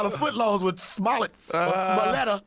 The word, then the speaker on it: Smollett: He trying to do them fucking $5 footlongs with Smollett or Smoletta. how do you say his I can't name? say his name. Smollett.